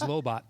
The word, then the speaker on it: Lobot: I always pronounce it as Lobot from Empire. That's correct. Yeah. Lobot's right.